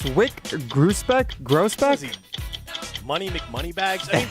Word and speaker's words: Wyc Grousbeck: So, guys, that was Celtics owner Wyc Grousbeck.